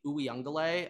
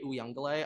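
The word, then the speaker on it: Uiagalelei: clemson and also like i was getting roasted for high pronounced dj ooey young delay i'm pretty sure it's dj oo young galay i think i said oo young gillay whatever the [ __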